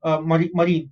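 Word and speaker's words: marine: Point number 2, most of these animals आर मराइन, मरीन नॉट मराइन, मरीन.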